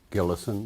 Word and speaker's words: Gillison: be interviewed for historical accuracy would you kindly pronounce and also spell your full name it's gillison and that's and then